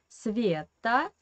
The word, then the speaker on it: Sveta: But when we make a nickname in Russian, Sveta, this E we pronounce like E because it is under the stress.